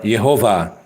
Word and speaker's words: Yehovah: where he said that God's name is pronounced with the vows E O A or yehovah yehovah yehovah is the